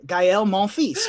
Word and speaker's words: Gael Monfils: levy that's Gael Monfils no it's Rafael levy gaël Monfils you just have to be pretending to be